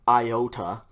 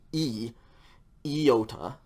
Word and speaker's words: iota: in english okay and usually it's pronounced like iota i don't care one iota about that okay but in greek at least in biblical greek this is pronounced with a short i sound so it's going to be e iota unfortunately with this one